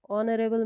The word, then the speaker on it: honorable: Honorable man begins with a consonant letter H. H is a consonant letter, but in this word H remains voiceless, it is silent, so we pronounce this word as honorable.